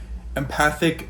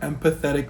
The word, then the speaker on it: empathic: So it is empathic mimicry. It is not empathetic mimicry, but we're going to hear Alex say that a few times.